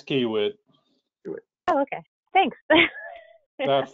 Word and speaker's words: Kiewit: I've been saying Kiewit without the U. Yeah, Kiewit. It's Kiewit.